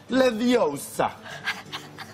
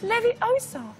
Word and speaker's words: Leviosa: You're saying it wrong. It's Leviosa, not Leviosa. It's Leviosa, not Leviosa.